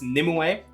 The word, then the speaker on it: Nimue: this lovely lovely lad nimue which is how it's pronounced I double checked they that's what they said in the uh in the in the thing in the announcement video it's Nim away uh this boss is